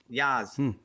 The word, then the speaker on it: Yas: Yas Links, is that how you pronounce it? Yas? Yeah. Yas.